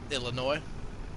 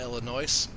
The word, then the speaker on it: Illinois: the s uh is the s in illinois is silent illinois right not illinois i've always called it